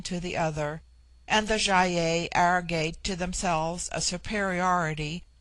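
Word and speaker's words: Gy-ei: It forms itself into Jaye for the plural, but the G becomes soft in the plural, like jy-ei.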